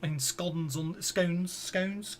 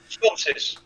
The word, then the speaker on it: sconces: They're They're basically braziers, as it were, in scones. How do you pronounce it? Sconces.